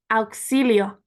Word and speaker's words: auxilio: And it's pronounced Auxilio.